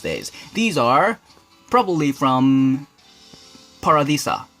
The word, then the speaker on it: Paradisa: These are probably from Paradisa. How do you pronounce it? Paradisa, like Spanish style. Paradisa, and bad quality looking Octane sticker.